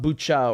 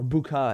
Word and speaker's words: Bucha: or bukha again i i really don't know i'm hearing you know two different pronunciations what i like to do is say things the way the locals say it and my impression is it's bucha because i heard the uk ambassador saying is buca i was like okay well i'll just go i'll take her lead since she's gonna launch